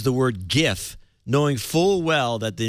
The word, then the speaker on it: GIF: the graphics interchange format G Graphics interchange it's pronounced GIF G the graphics The giraffic Interchange format well